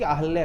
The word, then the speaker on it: अहल्या: अब अहिल्या होता है, राम जी ने किसका उद्धार किया, अहिल्या की अहल्या का? संस्कृत में अहल्या है, लेकिन हम बोलते हैं अहिल्या।